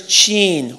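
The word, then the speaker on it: Tchien: store and he said my name is Gene What gene I'll spell it for you t-c-h-i-e-n go stand over there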